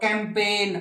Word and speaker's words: campaign: और कैंपेन, अभियान चलाते हो ना, तो CAMPAIGN, कैंपेन, और गै साउंड बोलते नहीं।